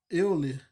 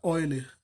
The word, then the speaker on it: Euler: matemático criou essa relação chama eu lê assim e em português só que ele é alemão aí costuma se pronunciar warner o nome dele então